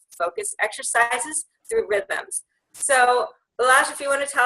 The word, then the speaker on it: Balazs: Yeah, you said it right. It's Balazs.